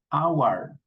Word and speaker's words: hour: But here, in this group of words, we don't pronounce the H. So, ghost, honest, honest, hour, mechanic, wreath, scheme, school, what, when, where, okay?